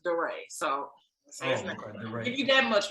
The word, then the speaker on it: DeRay: actions words the mayor of baltimore it's my deray yeah well he don't go by d-ray he said his name is durray so give me that